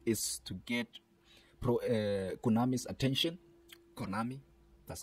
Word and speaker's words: Konami: Konami, that's how it's pronounced.